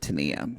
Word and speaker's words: Tania: We pronounce it Tania, so that's who we're talking about. Yeah. I don't know who Tanya is. Don't know. Still on that tell-all, when Sean Robinson goes, Tanya, I'm like, who?